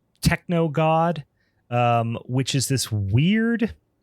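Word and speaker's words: TKNOGD: So obviously if you like kind of phonetically try to sound that out without um all the letters there. It's techno god.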